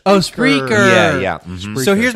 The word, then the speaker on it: Spreaker: it's pronounced Spreaker. Oh, Spreaker.